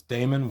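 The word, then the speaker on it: daemon: little bit about uh these are pronounced it's demon but it's Damon we call them demons to differentiate so we got a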